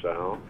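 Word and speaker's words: Tsao: And another branch of research that I was able to publicize was the work of Professor George Sao, that is spelled T-S-A-O.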